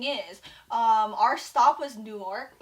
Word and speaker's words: Newark: Yeah, but what I'm saying is, our stop was Newark.